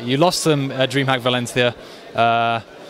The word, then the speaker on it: Valencia: lost some dream hack Valencia uh that is how you pronounce Valencia by the way I don't have a lisp uh you've lost some